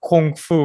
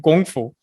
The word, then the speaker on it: Gong Fu: And we have confused the pronunciation. We call it Kung Fu rather than Gong Fu, as a lot of the martial arts world as it came to the West was influenced by Bruce Lee.